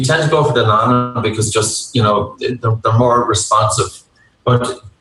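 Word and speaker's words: Nonin: Nonan is actually the correct pronunciation.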